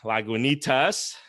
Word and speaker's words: Lagunitas: one right so today i'm drinking lagunitas yeah yeah there you go i said it right like juanita's and this thing is